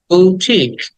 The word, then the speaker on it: boutique: এর পরে লং ই বুটিক বুটিক বু টাকে টেনে বলতে হবে টি টাকেও টেনে বলতে হবে লাস্টে ক বুটিক এন্ড 43 এটাকে আমরা